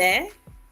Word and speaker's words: est: Je suis, il est, elle est, on est. Je suis, il est, elle est, on est. We don't pronounce the S and the T.